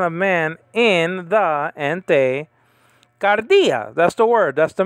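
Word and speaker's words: καρδίᾳ: man in the entei gardea that's the word that's the magic word kappa alpha delta iota with the acute marker alpha so the the syllable is on the is on the second syllable uh uh dia okay remember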